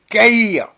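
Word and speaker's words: Cahir: Ça s'écrit comme un cahier, mais sans le E. Donc, Caïr. Comme un cahier, mais sans le E, ça fait C-A-H-I-R.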